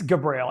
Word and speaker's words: Gabriel: It's Gabriel. Actually, it's Gabriel, spelled like Gabriel.